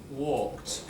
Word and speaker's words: walked: Walk. One syllable. Walked. You don't say walked, do you? It doesn't make an extra syllable. Jump. Jumped. We don't say jumped. The only time you do it is when your basic verb ends with a D or ends with a T.